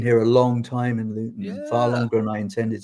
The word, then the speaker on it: Luton: You're a Londoner or you were a Londoner and now you're living in is it is it pronounced Luton? Luton. Luton.